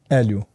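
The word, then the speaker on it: Helio: time limit no gloves and how do you pronounce his name Elio Elio and did did he kind of create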